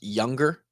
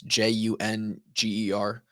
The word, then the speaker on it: Junger: He had a man named Sebastian, I believe pronounced Younger, but it's Junger.